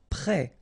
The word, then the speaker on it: prêt: Prêt, final T not pronounced, E accent circonflexe like that phonetically gives you the E sound, prêt.